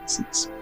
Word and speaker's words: Mrs: Is how that is pronounced. MRS misses.